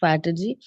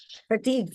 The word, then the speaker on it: fatigue: problems like depression stress excessive faty fatigue fatigue it is fatigue fatigue fatigue is tiredness